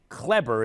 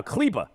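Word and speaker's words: Kleber: all these german names maxi clebber is somehow cleba and i i should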